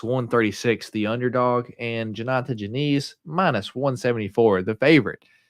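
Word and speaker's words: Diniz: taking on janata Janise I don't know why it's Janise when there's a d there but that's how they say it the black beast der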